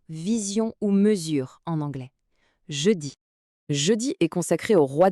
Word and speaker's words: jeudi: La prononciation ici est jeudi. Le son du J en début est très important. Ce n'est pas un j comme en anglais, c'est un son plus doux comme le son qu'on entend dans le mot